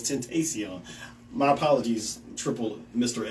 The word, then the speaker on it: Tentacion: So I'm reading it here. It says Tentacion, but it's Tentacion.